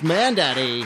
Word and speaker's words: Mandaddy: It's, his name, I believe, rhymes with Sandaddy. And it's Mandaddy.